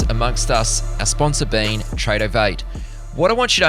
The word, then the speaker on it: Tradovate: Tradeovate is spelled Tradovate.